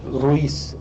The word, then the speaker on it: Ruiz: So the Ruiz, but I don't know if you can roll your Rs as good as I do.